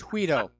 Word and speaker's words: Guido: He called him Guido. Well, actually, unfortunately, the G is pronounced as an H. It's Guido.